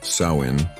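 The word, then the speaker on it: Samhain: Nowhere was this more true than in the Celtic lands of Ireland and Scotland where the ancient festival of Samine pronounced Sain marked the transition from the light of summer to the darkness of winter.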